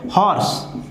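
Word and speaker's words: horse: होता है, ठीक है, इसका ऑर्स नहीं होता, ये गलत है, इसका होता है हॉर्स, तभी हम यहाँ पर ए भरते हैं, क्योंकि इसका जो पहला लेटर है उसका प्रोनाउंसिएशन हा है, और हा किस में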